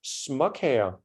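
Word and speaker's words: småkager: we will call them so cookies in Danish are called smok hair so if we go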